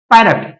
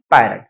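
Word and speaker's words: parrot: पी A double R इसे क्या बोलते है पैरट पट ना बोल कर ना की पट तो अब बात करते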